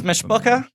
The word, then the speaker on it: mishpucha: His mishpucha. Am I pronouncing that correctly? You're doing it very well.